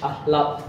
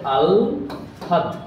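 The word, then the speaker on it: আহ্লাদ: এটাকে অনেকেই ভুল করে উচ্চারণ করে থাকে যে আহলাত, লাত লটা পড়ে যায়, কিন্তু এটা শুদ্ধ বা প্রমিত উচ্চারণ হচ্ছে আল হাদ, ঠিক আছে?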